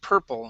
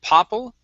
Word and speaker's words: purple: um orange red and purple instead of Popple it's purple and this is going